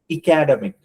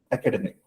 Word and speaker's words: academic: example uh academic you you can't say academic it's wrong right academic so these kind of